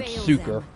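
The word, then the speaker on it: succor: I've always pronounced that word suker. S u c o r. I've always said suker.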